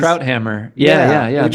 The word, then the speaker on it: Krauthammer: thing, that was Charles, I never can pronounce his name, Krautheimer. Remember him? Oh yeah, He was Charles always, Krauthammer.